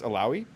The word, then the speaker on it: Illaoi: how do you pronounce alawi ill like you're sick you know you're real ill uh ow like you know you sub your toe and then e like the letter e you know ill ow e all right